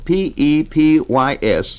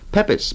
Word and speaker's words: Pepys: His name, Samuel P-E-P-Y-S, pronounced Pepys by some, Pepys by others. We're going to stick with Pepys in the course of